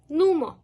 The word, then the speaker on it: НУМО: навчаємо української мови онлайн і вимовляється як окреме слово Нумо усі викладачки Нумо є